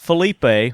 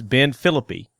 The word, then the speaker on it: Philippi: Not Felipe, which I mispronounce it, but it's Ben Philippi.